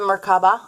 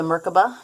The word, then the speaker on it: Merkaba: You have the Merkaba or the Merkaba, depending upon how you learned the pronunciation of this particular card.